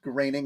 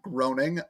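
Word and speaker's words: Groening: saying that matt greening's name is pronounced graining and not groaning i don't know which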